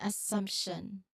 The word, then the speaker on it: assumption: So while you might expect just an MT based on spelling, well, subtle P sound often naturally appears within the MT.